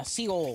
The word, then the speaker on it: Seoul: Uh-huh, yeah, Seoul. That's how you pronounce it.